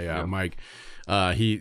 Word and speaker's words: Mykyl: Mike. Mike with a Y. It's spelled MYKYL. Okay.